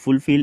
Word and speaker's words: fulfill: নেক্সট আছে দিছে যে again the word fulfill is pronounced with more force on the second syllable ঠিক আছে আৰু ফুলফিল